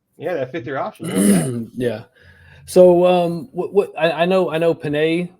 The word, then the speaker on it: Penix: So what I know Panay. It's Panay, right, or Penix? Penix, Michael Penix. Penix. Do they say it Penix? I thought I heard. How do you pronounce his last name? That big Penix energy.